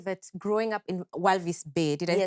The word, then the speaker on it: Walvis Bay: so you're you're saying that growing up in walvis bay did you pronounce that correctly yes um inspired you to